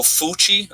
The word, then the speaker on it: Fauci: So, I mean, if you can, Fauci, I don't even know how to say it. Oh, Fauci? Okay, thank you for the breakdown of that.